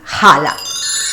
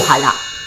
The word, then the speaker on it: challah: Yo soy Chelo y el día de hoy te voy a enseñar a preparar un pan challah o jalá. Se pronuncia cualquiera de las dos versiones.